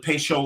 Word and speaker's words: Patio: Peychaud is spelled patio, but the old timers called it Peychaud like ratio.